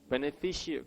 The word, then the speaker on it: beneficiary: 강세가 어디 있나요? beneficiary. 그냥 fishery가 아니라 이것까지 발음하셔야 돼요. beneficiary예요.